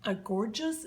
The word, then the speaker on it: gorgeous: And this is a gorgeous, it's called Gorjuss, G-O-R, I don't know. It's pronounced gorgeous, or but it's not spelled that way.